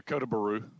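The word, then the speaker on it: Kota Bharu: How do you spell it? Kotabharu. Kota Baru? Yeah, Kota Baru.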